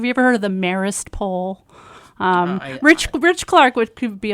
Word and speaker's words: Marist: you also went to, I always butcher the pronunciation of the college, Marist? Marist.